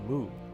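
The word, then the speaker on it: 木: like a small tent in Mandarin it's pronounced moo but you hardly need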